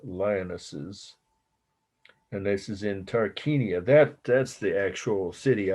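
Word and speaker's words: Tarquinia: tomb of the lionesses and this is in tarkania that that's the actual city i got to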